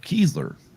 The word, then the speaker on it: Kiesler: And Steve is saying it's pronounced Kiesler. Kiesler, got it.